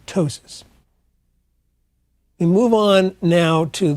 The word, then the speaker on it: ptosis: The other thing is called ptosis, spelled with a P, and that is a drooping of the eyelid.